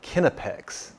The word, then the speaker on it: Knipex: have ever heard of this company is called kinnipex and the first thing you may notice is that it's not pronounced the way you thought it was this